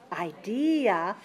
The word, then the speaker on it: idea: second or third syllable three syllables stress the second idea e e e that's very clear good so the second syllable is strong and that's the stressed one can you hear another